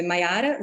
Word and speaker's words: Mayara: E como é que se pronuncia o total disso? É Maiara.